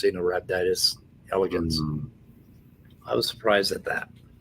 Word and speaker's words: Caenorhabditis elegans: for pronunciation, but it's Caenorhabditis elegans. It's not Caenorhabditis elegans, right? Huh. The C is soft. It's an S sound.